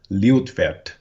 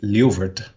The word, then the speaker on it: Liutvert: Therefore, this ringed area of land is now called Liutvert. The steersmen say Liuvert, but that is a mispronunciation.